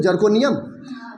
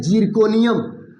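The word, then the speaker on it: Zirconium: तो जर्कोनियम लोग बोल देते हैं, लेकिन स्पेलिंग जो है हम समझते हैं कि जिरकोनियम बोलते हैं, का ZI से स्टार्ट है।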